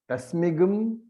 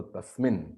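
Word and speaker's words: तस्मिन्: And tasmigam tvai. So tasmin. Tasmigam is of course the Vedic pronunciation. You can simply say tasmin.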